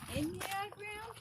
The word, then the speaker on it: Enneagram: Enneagram? Yeah, Enya. So Enya. Oh, like the singer. Yeah, Enya is 9. Oh yeah, that's right. And gram is diagram, so it's a diagram of 9.